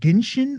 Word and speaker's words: Genshin: Number 4, are we saying Genshin or Genshin Impact? Hard G.